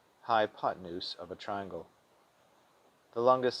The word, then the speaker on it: hypotenuse: use, U-S-E, as in hypo-ten-use. That may make it easier to spell, but make sure to pronounce it fluidly, as in hypotenuse.